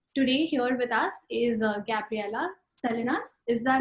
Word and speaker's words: Gabriela Salinas: And today here with us is Gabriela Salinas. Is that how you pronounce her name?